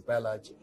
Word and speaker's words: Pahlaj: So we say Pahlaj. Prahalad is pronounced as Pahlaj.